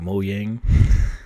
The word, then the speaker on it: Mojang: of cool you know everyone's Swedish and so it's like moang and I'm still going to call it Mojang because I live in